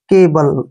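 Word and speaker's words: cable: ए आता है तो सी का उच्चारण क करते हैं सी को हमने के पढ़ा और बी का उच्चारण ब पढ़ेंगे एल ई को ल पढ़ेंगे ऐसे केबल क्या हो गया केबल जी का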